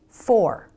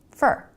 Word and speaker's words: for: Let's take, for example, this word, for. Fully pronounced, it's for. But most of the time in a sentence, Americans pronounce it fur. Really fast with a reduced vowel, fur, fur.